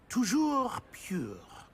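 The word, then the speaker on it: toujours: Tujour.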